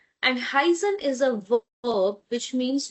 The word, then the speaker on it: heißen: And we know that if it's EI, then sound is of I, high, heißen. And SZ works as double S, right? And heißen is a verb which means to be called.